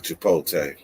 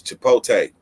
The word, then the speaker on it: chipotle: people don't say chipotle they don't even pronounce the whole thing it's chipotle i didn't even know it had a l in it for how long